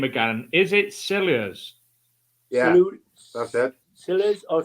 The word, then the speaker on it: Silures: Somebody's asking how you pronounce the name again. Is it Silures?